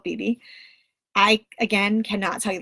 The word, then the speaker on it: bebe: all it's from and I know everyone pronounces this differently it's from Beebe or if you like to say BAE BAE I don't know I called bebe I again cannot tell